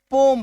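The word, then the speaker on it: poem: क्यों हो जाता है पोएम आपको नहीं बोलना है पोयम बोलना है क्या हो जाता है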